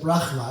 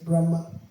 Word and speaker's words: Brahma: prad was here and you said Brahma he would say no he would correct you and say Brahma because it's a Sanskrit name it's not a Russian name it's a Sans name pronounce his name prop